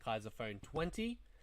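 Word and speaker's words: Kaiser Phone XX: Came included with the complete selection modification Kaiser Phone 20. That's how it's pronounced. The XX is pronounced 20.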